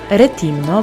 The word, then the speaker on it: Rethymno: fajny malunek na ścianie retimno bo chyba tak powinno wymawiać te nazwy to Trzecie co do